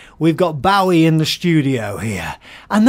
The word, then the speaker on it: Bowie: it's actually is it Bowie or Bowie it's Bowie oh Bowie because in in English you could